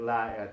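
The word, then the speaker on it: لأ: And to negate it, we just add la at the end of it. Akid la. And in Egypt, akid la'a, because la is always two syllables in Egypt. La'a.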